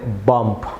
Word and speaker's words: bomb: করে উচ্চারণ করি তাহলে বম্ব, বাট এটা এইভাবে প্রনাউন্স হবে না। ভিউয়ার্স এখানে MB অর্থাৎ M এর পরে বি থাকলে এটি বি সাইলেন্ট থাকবে।